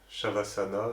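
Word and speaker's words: Śavāsana: qui vient du yoga, qu'on appelle Shavasana, ça s'écrit Savasana, quoi, et connu aussi sous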